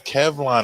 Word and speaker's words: Kevlon: His name's Kevlon. It rhymes with Teflon.